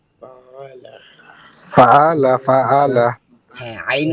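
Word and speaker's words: فَعَلَ: পালা Fa'ala. Fa'ala. হ্যাঁ আইন উচ্চারণ মাশাআল্লাহ ঠিক আছে।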